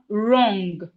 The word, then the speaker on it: wrong: We have wrong. Wrong. The W in wrong is silent.